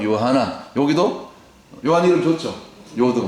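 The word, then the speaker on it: יוחנן: 히브리어 발음은 요하나.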